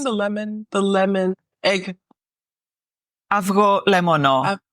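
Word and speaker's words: avgolemono: lemon the lemon egg AO lemono AO is the egg and lemono lemon exactly so so you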